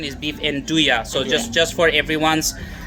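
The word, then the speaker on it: 'nduja: Let me correct the correct pronunciation is beef anduja. So, just just for everyone's sake, it's it's pronounced beef anduja, like y a, anduja.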